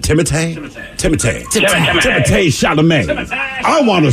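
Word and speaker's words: Timothée: it all right because he spells his first name t-i-m-o-t-h-e-e with an accent order so what is it timothay today I want to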